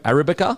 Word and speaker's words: Arabica: Use code Arabica, so it's spelled differently to how it sounds, but ARABICA.